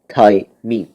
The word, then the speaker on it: thymine: it thymine thymine right thai mean or we don't call it thymine it's thai mean only we go by the british pronunciation on this one okay and the other